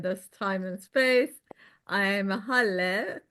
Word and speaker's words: Haleh: I'm Haleh, pronounced like hallelujah. So it's Haleh.